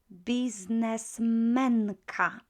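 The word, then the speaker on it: biznesmenka: Businessmenka, just the accent would shift because we tend to accent, not all words, but almost all words are accented on the next to the last syllable.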